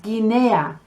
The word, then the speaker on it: Guinea: When you get G-U-I, you keep the hard G sound. So you have Guinea.